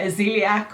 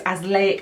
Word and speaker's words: azelaic: in another video and I think I was calling it aelc or aelc but it's AIC acid is how you